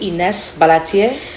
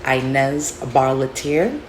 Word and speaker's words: Inez Barlatier: My name is Inez Barlatier, but growing up here in America, I pronounce it Inez Barlatier.